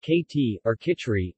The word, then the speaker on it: khichdi: you khichdi pronounced katy orca tree is a dish from the indian sub-continent made